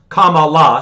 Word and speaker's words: Kamala: racist if you if you mispronounce kamala so remember it's kama la um and she's gonna